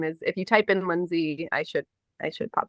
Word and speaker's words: Lynsea: music my name is it's pronounced Lindsay it's normal pronunciation but it's spelled l